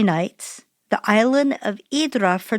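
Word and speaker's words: Ύδρα: Hydra is the English pronunciation. In Greek, the island's called Hydra, and you spell it Hydra.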